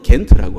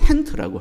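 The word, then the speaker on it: Gent: hant라고 하는 지역에 있는데이 영어로는 겐트라고 하죠 겐트라고 하는데 네덜란드 사람들은 헨트라고 합니다 그 질을 히읗으로 h로 발음을 하는데 그래서 반 고흐라고 하기도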